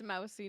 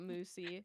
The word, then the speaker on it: Mousy: It's mousy, not moosey.